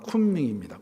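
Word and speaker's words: 昆明: 그 곤명이라는 도시는 중국 발음은 쿤밍입니다.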